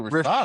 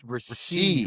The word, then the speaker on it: Rashee: Is it Rashee Rice or is it Rashad Rice? Rashee. It's Rashee, Rashee.